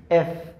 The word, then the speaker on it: F: যেই তারপরে এফ জি এফ জি এইচ এইচ এফ জি এইচ এফ জি এইচিটা শক্ত করে এফ জি এইচ এফ উপরের দাত নিচের ঠোট দুই ঠোট এক জায়গায় লাগবে না এফ জি এইচ তারপরে